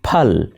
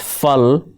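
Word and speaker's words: پل: For example, pal and pool are often heard as fal and fool.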